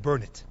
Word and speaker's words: Burnet: give you an example Burnett Texas Burnet Texas absolutely insisted to me there is nothing of value in Burnet Texas it's spelled b-u-r-n-e-t but they pronounce it burn it so I wandered around